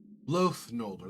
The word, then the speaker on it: Loath Nolder: Loath Nolder, that's how you say his name.